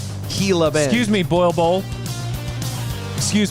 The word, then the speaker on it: Gila: uh-huh matt holloway yeah says that it is enunciated gila not gila i don't care so just wanted to clear that up it is gila excuse me boil bowl